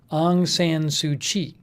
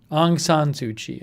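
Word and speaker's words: Aung San Suu Kyi: leaders including the leader if i pronounce this right aung san tsuchi aung san tsuchi i think it is the telecommunications disruptions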